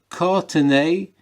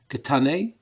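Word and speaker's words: קתני: And you said Katne is the accurate pronunciation. Katane is the traditional pronunciation. Yours is neither accurate nor traditional.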